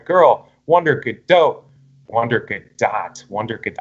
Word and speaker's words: Gadot: wonder kid Oh wonder good dot wonder good I'm gonna say good dot now on because that's how a gal gadot pronounces her name so I'll give you